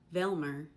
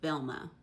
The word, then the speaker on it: Velma: Velmer instead of Velma.